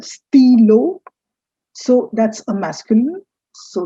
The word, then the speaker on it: stylo: which you write steal it's not stylo it's the steelo so that's a masculine